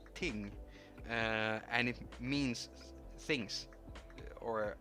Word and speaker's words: ting: about the ting ting the way you pronounce that in Swedish is ting and it means things